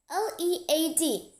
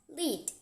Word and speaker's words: lead: For example, L-E-A-D, we pronounce it as lead, and the same L-E-A-D, but sometimes we pronounce it as lead. Lead means to go in front of, while lead is a type of metal, respectively.